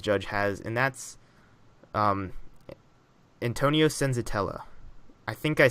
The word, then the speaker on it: Senzatela: It's Senzatela, damn it. I guess not. That's my stutter, not struggling to say the name. Senzatela. Yeah, no, you're saying that right.